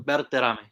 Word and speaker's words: Berterame: Bertame. I if you want to go with the Spanish, you know, if you want to go Bertoame.